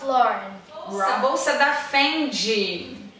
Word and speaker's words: Fendi: A bolsa da Fendi. Fendi. Fendi. Ó, só muda o D, tá vendo, gente? Não é Fendi, É Fendi.